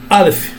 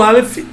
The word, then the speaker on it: Aleph: O Aleph não tem som, então essa sílaba aqui é A, um A mais acentuado, mais forte, tá?